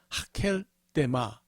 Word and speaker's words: 아겔다마: 아겔다마는 이제 더 정확하게 발음을 하면 하켈데마 이렇게 읽는데 하켈이라는 것은 field, 밭이라는 뜻이고요.